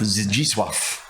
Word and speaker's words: Zdzisław: Zdzisław. Yeah, very good. Thank you. I've had to write it down phonetically here on my on my sheet.